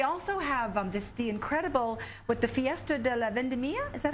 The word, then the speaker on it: Fiesta de la Vendimia: They also have the incredible the Fiesta de la Vendimia. Is that how you say it? Fiesta de la Vendimia.